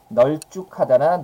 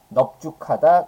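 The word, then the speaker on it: 넓죽하다: 이때는 널쭉하다나 널뚱굴다가 아니라 어떻게 발음해야 돼요? 예, 넙죽하다 그 다음에 넙둥불다 이렇게 발음하게 된다는 겁니다.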